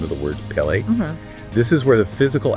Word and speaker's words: Pe: Okay, so say the letter Pe or P. Right now, make the sound P. Pe is a labial letter. It is pronounced entirely with the lips.